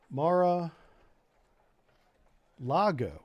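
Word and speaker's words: Mar-a-Lago: God I butchered this Mara Lago so there's no r i there's an r in the beginning Mar I I thought it was Largo because there's a Fort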